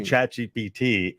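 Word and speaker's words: ChatGPT: give it to us do you know how to pronounce chat GPT in French it means cat I fart so French people all over the world are seeing Chachi BT and they're just giggling every time that we bring it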